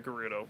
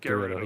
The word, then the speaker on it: Gerudo: For now, we'll just placeholder Gerudo. That's what they were. Yeah. Gerudo? Gerudo. Gerudo. Yeah, it's a Anyway, so that could be hard G.